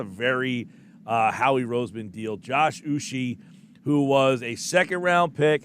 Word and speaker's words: Uche: Yes, and I believe it's pronounced Uche, by the way, Josh Uche.